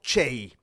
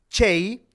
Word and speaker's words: Cey: 1513 y murió en 1579 se llamaba galeoto chey fue un viajero un comerciante un burgués y